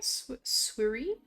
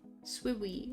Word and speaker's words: Swiri: Hiya, Swiriko? I'm sorry if I pronounced that wrong. Swiri. Swiwi. It's so easy to say that as like Swiwi rather than Swiri.